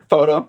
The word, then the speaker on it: Fauteux: say your last name photo like photograph photo okay mhm never knew